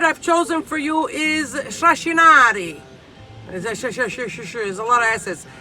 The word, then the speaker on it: shrashinari: The word I've chosen for you is trascinare. There's a lot of S's. Trascinare means to drag. In Italian, you pronounce it a little more clearer.